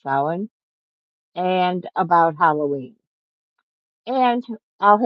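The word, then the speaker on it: Samhain: on the stream about um the witch's holiday sin which when you see it it's going to be s a m h a i n it's a Celtic word that's pronounced sin and about Halloween and I'll have a guest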